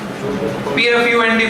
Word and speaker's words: Pfund: PFUND foot series, P silent है।